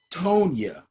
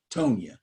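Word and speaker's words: Tonyan: him i'm telling you robert tony i think it's pronounced tonya so anyway great day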